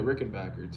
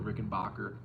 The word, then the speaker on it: Rickenbacker: He used to play a Rickenbacker too, or Rickenbacker, depending on how British you want to get on the proper enunciation or pronunciation.